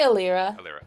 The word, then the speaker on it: Alira: got 16 alera yeah is it alira or elaira how how is your name pronounced I say alira okay okay um